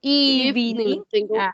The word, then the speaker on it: evening: Mira que ahí pareciera que tiene 3 sílabas, entonces por eso decimos evening, pero en realidad solo tiene 2. La primera sería if y la segunda ning, evening.